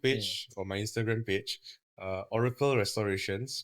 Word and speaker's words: Ohrykel: Okay, they can contact me on my Facebook page or my Instagram page, Oracle Restorations. But Oracle is not spelled as Oracle as the normal way it's spelled. It's OHRYKEL. restorations.